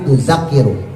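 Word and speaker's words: tudhakkiru: Jadi bacanya bukanakir tapi tuzakiru.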